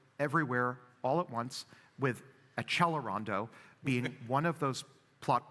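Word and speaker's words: Accelerando: A, how many people love to write and say you're mispronouncing Xelerondo. You have to pronounce it in the right Italian way, which is Accellerando.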